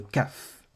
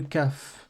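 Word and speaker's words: כף: savez que c'est alors le CAF donc comme le café comme la prononciation de la lettre le nom de la LED pardon l'indique le CAF fait le son que le son k en français cependant pour qu'il fasse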